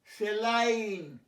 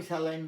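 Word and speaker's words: saline: সেলাইন, স্যালাইন, আমি স্যালাইন বলতাম।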